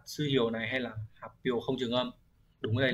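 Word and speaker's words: 発表: Hán tự là chữ phát và chữ biểu, sẽ được đọc là hapyo.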